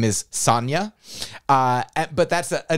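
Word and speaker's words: Sonya: And so I have a friend whose name is spelled S-O-N-Y-A. And some people pronounce that Sonia.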